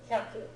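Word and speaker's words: 百: Hyaku, 100.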